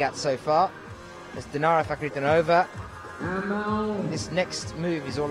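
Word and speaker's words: Fakhritdinova: The MC just gave out the best pronunciation of Dinara's last name I've ever heard. Dinara Fakhriddinova.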